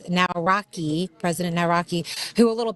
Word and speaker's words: Nawrocki: Yeah, Nawrocki. so I like how you said it. Yeah, Nawrocki, it's phonetic.